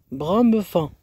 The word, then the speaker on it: Bramefan: C'est le sentier de Bramefan. C'est comme ça que ça se prononce.